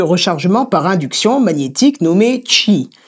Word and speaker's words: Qi: par induction magnétique nommé çi ça s'écrit qi et cette technologie est